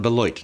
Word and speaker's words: Beloit: about Beloit, I have been told that the locals say the name of their city sounds like a quarter falling into a toilet bowl.